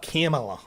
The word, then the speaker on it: Kamala: Let's talk about Kamala, shall we? Kamala. By the way, I still don't know how to pronounce her name fully, and I don't give a shit at all.